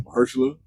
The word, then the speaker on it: Mahershala: How do you pronounce his first name? Mahershala. I didn't know he was in there until earlier today. Yeah, Mahershala Ali.